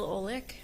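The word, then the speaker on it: Olek: Olic. Okay. And that's spelled O L E K.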